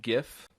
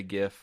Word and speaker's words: GIF: time we talked about the proper way of pronouncing the abbreviation gif right with a hard G yeah yeah yeah well